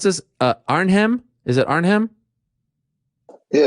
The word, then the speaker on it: Arnhem: glory collision three it's tell me how to pronounce this uh arnhem is it arnhem yeah it's gonna be in arnhem and the um calderdom stadium now the dome